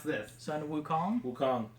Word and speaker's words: Wukong: you pronounce this Sun Wukong Wukong I'm pretty sure that's a v no it's woo Wukong I guess it is